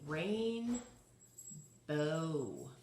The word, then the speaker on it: rainbow: does that sound like does that sound more like the owl that we had in flower or the o that we had in the word no that rainbow what do you think elise what does it sound more like a long it's the long o again right so it's